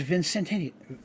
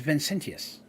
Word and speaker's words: Vincentius: bowed my name is vicentennial well I said it wrong my name is vincentius he said and I've